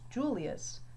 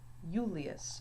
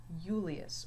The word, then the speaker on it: Julius: When his name's written in Latin, it is not pronounced Julius, but Julius. So the I has more of a Y sound here. Julius, or reiectus, major.